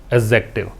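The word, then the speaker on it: adjective: मैंने आपको ये समझाया था कि इस वर्ड को पढ़ने का तरीका है एडजेक्टिव, एडजेक्टिव नहीं पढ़ना है, एडजेक्टिव पढ़ना है। क्योंकि ए और जे के बीच में जब डी लगाते हैं तो डी का उच्चारण हमें नहीं करना होता। क्या बताया मैंने, ए और जे के बीच में अगर आप डी लगाते हैं तो डी को आप भूल जाएं, एडजेक्टिव।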